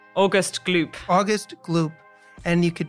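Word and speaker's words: Augustus Gloop: And there's also a meme, and I'm going to ask you to pronounce it. August Sloop? August Gloop.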